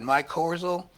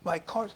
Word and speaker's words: mycorrhizal: The trees have that mycorrhizal, is that it, network, if I'm saying it right?